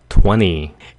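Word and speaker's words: twenty: Bỏ âm 't ' đi, chỉ cần nói "twenny" thôi.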